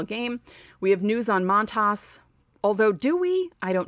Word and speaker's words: Montas: that because it started off so well but montas that's how you say his name turns out